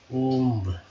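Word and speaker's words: womb: गरीब, पुअर, गर्भ, ओम्ब। यहाँ W जो है ये साइलेंट वर्ड है दोस्तों, याद रखिएगा। ये क्या है, साइलेंट है।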